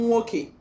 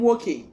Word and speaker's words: nwoke: Brother is pronounced one name nwoke, one name nwoke.